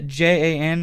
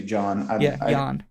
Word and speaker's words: Jan: thought it was yeah j-a-n is how you say it yeah i think it's jan it could be john john stoneroot so he